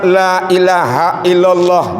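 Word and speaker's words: لا إله إلا الله: Jadi kalimatnya itu panjang lanya panjang. La ilahaillallah. Jadi diharapkan orang membacanya itu dengan baik dan benar. La enam harkat, ila dua harkat. Illallah taphim membacanya.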